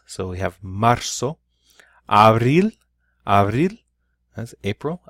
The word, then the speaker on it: marzo: is that Z remembers it's pronounced like an S so we have marzo Abril are real and